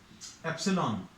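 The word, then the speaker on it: ε₀: Force proportional to Q1 Q2 upon R square, और proportionality sign हटाने पर ये 1/4 पाई एप्सिलॉन 0, इसको अभी हम लोग ऐसा प्रोनाउंस करते हैं एप्सिलॉन।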